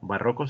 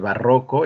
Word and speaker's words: barroco: Barroco significa complejo. Así que el barroco es un movimiento artístico, cultural que impactó en muchas artes. Y se pronuncia barroco, no barroco, ni barroco. No, no. Es grave.